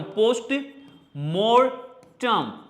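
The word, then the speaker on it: postmortem: मरने के बाद जो चीर फाड़ होती है ना, तो पोस्ट, हिंदी में तो मार्टम ही बोलते हैं, बट इंग्लिश में मोर्टम, तो मोर्टम, पोस्ट मोर्टम, पोस्टमोर्टम।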